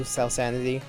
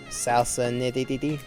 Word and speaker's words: SalSanity: But unfortunately, like I said, some other dude thought of the name too, SalSanity. Often people mispronounce it as salsa nitty, and I don't understand how, or they'll just call me salsa.